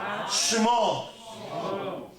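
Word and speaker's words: שמו: La primera pregunta que le hace Moshe al Eterno es, Ma Shemo, can you repeat after me, please? Shmo. Shmo.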